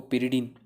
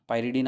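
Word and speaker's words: pyridine: जैसे मैं एक एग्जांपल दूँ आपको, पिरिडीन, या इसको इंग्लिश में अगर मैं प्रोनाउंस करूँ तो पायरिडीन आप बोलते हो।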